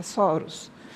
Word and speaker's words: soros: E essas estruturas são chamadas de soros. Essa é a pronúncia, soros.